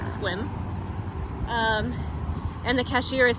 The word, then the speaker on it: Sequim: the Mobile station outside Sequim I believe you pronounce it squim um and the cashier